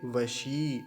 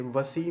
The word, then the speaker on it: वशी: ई की मात्रा है तो थोड़ा सा लंबा खींच वशी ऐसा और अकार का भी ध्यान रखेंगे वसी मत कर वसी नहीं कहेंगे ऐसे वसी नहीं होगा जैसे यह लिखा है मैंने ये गलत उच्चारण हो जाता है वशी ऐसा उच्चारण होगा तो एक बार सभी